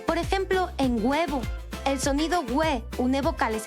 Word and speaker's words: huevo: Por ejemplo, al decir huevo, no pronunciamos una H fuerte al inicio, por eso no podemos escribir solo escuchando.